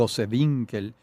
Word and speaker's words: Gosewinkel: Ángel Sauce, a Ruth Goswinkel, no sé si se pronuncia Gosewinkel. así, Gosewinkel, y Alberto Grau.